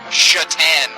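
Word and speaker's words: Šatan: don't think it's funnier that s-a-t-a-n is pronounced chatan that doesn't make any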